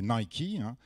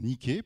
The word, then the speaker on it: Nike: tout petit peu snob il faut l'appeler nikey et si vous êtes encore plus snob c'est Nick parce que c'est du grec enfin bon ça peut